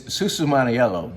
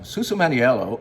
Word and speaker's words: Susumaniello: But let me just say that how you say it is Susumaniello. Susumaniello, and how you drink it is just go for it.